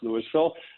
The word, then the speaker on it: Louisville: louisville uh colorado spelled like louisville kentucky but pronounced louisville i've got 33 years in finance and accounting